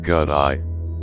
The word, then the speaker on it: gate: of suetta the first first gate pronounced godi symbolizes going Beyond samsara